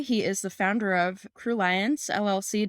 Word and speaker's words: Crulliance: is the founder of crew liance LLC did I say that right crew liance thank you for saying it right you did crew liance